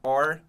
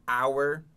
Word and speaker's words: our: É, muitas vezes você pode escutar or ou our. É uma palavra que tem duas pronúncias aí, pode variar, né? Então aqui ele canta or.